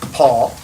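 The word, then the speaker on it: Poll: is adam paul it's spell p-o-l-l but pronounced paul correct apparently it's a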